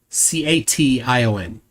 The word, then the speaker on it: cation: says that sodium is the major and then CATION, how would you pronounce that word? CATION.